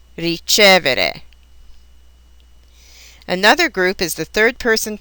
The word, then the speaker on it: ricevere: Many, but not all, of these verbs are accented on the syllable that precedes the next to the last. Here are some examples: credere, vendere, rispondere, ricevere.